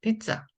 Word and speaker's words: 피자: 있네요 자 그래서 피자입니다 그런데 우리가 피자피자 하지만 된 소리가 나기 때문에 비자 비자 이렇게 발음해야 맞습니다 좀 된 소리로 피자가